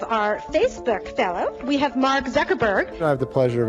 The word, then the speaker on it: Mark Zuckerberg: the people you just say your name and pronounce it so nobody messes it up and they have it on tape sure it's Mark Zuckerberg it was not crazy somebody was gonna connect